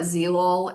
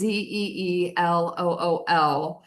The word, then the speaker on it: Zeelool: I call it Zeelol. It's Zeelool, but they have the coolest frames.